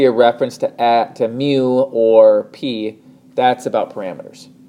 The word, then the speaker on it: mu: big curse of you it's a Greek letter and it's pronounced mu if you're talking about